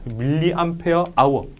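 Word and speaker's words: mAh: 뭐라고 읽어요? 이렇게 하면 안 되고 밀리암페어 아워.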